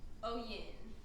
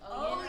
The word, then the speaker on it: Oyin: Tell us how you pronounce it. Oyin. So it's Oyin Oyin.